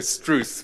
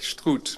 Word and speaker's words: Struth: I was going to say Struth, which is sort of English, but I think Struth might be better.